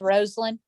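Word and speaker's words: Rosalynn: So we have the high school where Jimmy and Rosalind, her name is pronounced Rosalind, like Rose Garden. She's named after her Aunt Lynn and her grandmother Rose.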